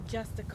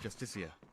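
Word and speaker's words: Justiciar: trust this ass clown he's a justice it's pronounced justicia rigmore even bar rendar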